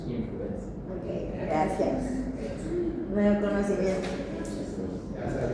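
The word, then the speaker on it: Haemophilus influenzae: En latín ae se pronuncia e por eso no decimos a hemófilus influenzai, se dice hemófilus influencer.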